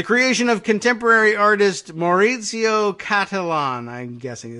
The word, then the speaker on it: Cattelan: The creation of contemporary artist Maurizio Cattelan, I'm guessing. It's C-A-T-T, there's two T's in there. Cattelan, not Catalan, but I don't know how else you would pronounce that.